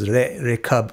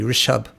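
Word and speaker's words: ऋषभ: It mispronounced in many cultures as Rekab, but it's really Rishab.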